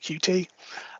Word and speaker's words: Qt: There's also Qt, some people pronounce it Qt, which is a platform independent UI framework.